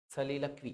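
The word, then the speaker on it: soliloquy: सलीलक्वी, सलीलक्वी, सलीलक्वी। जैसे असली उच्चारण क्या है इसका?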